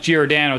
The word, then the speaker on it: Giordano: No, I think it's pronounced Giordano.